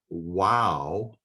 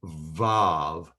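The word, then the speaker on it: וָו: this is for the letter wow, as the New King James renders it. I believe it should be vav.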